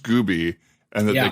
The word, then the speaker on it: Gube: I don't know if you remember this, that your actual last name is pronounced Gooby and that they called you Ubie Gooby in high school.